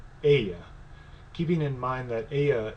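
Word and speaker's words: ella: keeping in mind that Aya is spelled with two L's which are pronounced in Spanish similar to a why in English so yes C no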